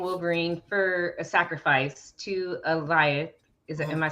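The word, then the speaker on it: Alioth: So after she murders Johnny, she leaves Deadpool and Wolverine for a sacrifice to Eliath. Am I saying it right? Eliath?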